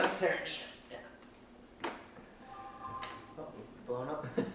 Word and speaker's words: Tyranena: Tyranena? Tyranena, yeah.